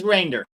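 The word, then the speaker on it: Reijnders: on aggregate Pete reinders the EIG is pronounced as the Y in by so it is reinders thank you reinders so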